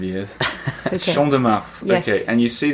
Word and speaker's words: Champ de Mars: Champ de Mars. Champ de Mars. So you do pronounce the S? Yes. I've been saying that wrong for 5 years. Okay. Champ de Mars.